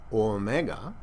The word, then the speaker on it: omega: Omega, hear it, mega, big O, omega, is pronounced O. 2 beats.